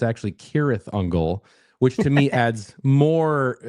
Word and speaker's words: Cirith Ungol: I mean these guys were playing as Sirungle which of course we have to also mention